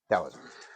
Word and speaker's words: Taoisme: Ejaannya berbeda. D AO IM atau T AO IM. Dowoisme. Towisme. Dowisme. Yang mana yang benar? Ya, tepat sekali. Dowisme.